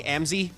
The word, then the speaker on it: Amzy: It is pronounced Amzy?